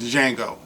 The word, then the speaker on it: Django: confusing this movie with django Django the D is silent okay so uh anyway